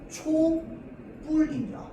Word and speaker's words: 촛불: 원칙 발음은 초불입니다.